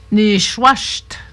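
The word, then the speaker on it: nishuasht: Ni schwasht. Se prononce ni schwas.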